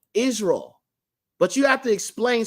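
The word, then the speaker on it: ישראל: Now, sometimes they have it as Yisrael, but for the most part, they say Israel, okay, in the modern day. So this is a Yod right here, but yet they got you pronouncing it as an I, okay? This is a sheen. Remember, it makes the SH sound, but they pronounce it as an S because of these vowel points.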